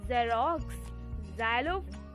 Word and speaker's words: Xerox: वो है za and some words are Xerox, Xerox, xylophone. यहाँ पे एक्स का साउंड क्या आ रहा है? जा और नीचे जा। ज़ेरोक्स, xylophone. जा नहीं पढ़ेंगे, इसको जा